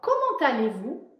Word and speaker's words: comment allez-vous: Petit truc dans comment allez-vous, on fait la liaison entre comment et aller. On prononce un t.